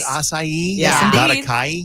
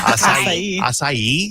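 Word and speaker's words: açaí: Is that how you say it? Asai. See how I concentrated to not mess it up. Yeah. Asai. Yes.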